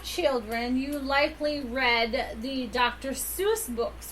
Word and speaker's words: Seuss: According to I don't even know Friends and Family, the name rhymes with voice, not deuce.